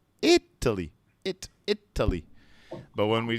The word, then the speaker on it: Italy: it is yeah so when we say the country the stress is on italy italy it italy but when